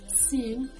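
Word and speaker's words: سين: Those are sin and shin. Let's start with the sin. Sin sounds just like the English S.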